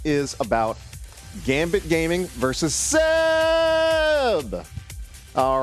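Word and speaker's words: CEB: He was the inspiration for the name of this team, and the name is pronounced like Seb, with an S, but in this case with a C.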